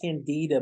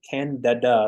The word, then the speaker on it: Candida: I know it says candida, but it's pronounced candida. So think of DADA.